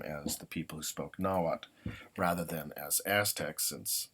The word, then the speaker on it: Nahuatl: There's slight disagreement on whether you pronounce the L at the end of a term. In the school I went to, we did not pronounce the L when TL occurs at the end.